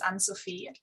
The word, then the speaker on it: Anne-Sophie: me my name is ann sophie um sounds french but i'm german in fact but the french know how to pronounce it which is very good